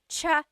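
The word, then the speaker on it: tsaa: that you drink and it's spelled TSA a cha cha that's such a talug spelling I love it there's the TS sound and then the double vowel uh pronunciation cha it's so talog yes very good what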